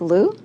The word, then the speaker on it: Luu: We have from the city of Milpitas, Mike Liu. Yes. I get that pronounced right?